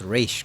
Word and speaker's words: Ra's al Ghul: least they pronounce Raish correctly.